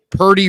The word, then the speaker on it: Purdy: Well, that Purdy rhymes with turdy.